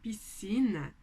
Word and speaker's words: piscina: na hora deu pronunciar como eu falo essa palavra piscina piscina E é só o som de s que eu tenho aqui apesar de CS se eu não produzo o som do c e logo eu tenho